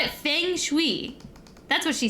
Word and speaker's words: feng shui: The name of this traditional ancient Chinese practice, a geomancy, is said can be pronounced two different ways: feng shui, or feng shui.